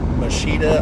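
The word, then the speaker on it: Moschitta: John Machida, I believe is how you pronounce his last name.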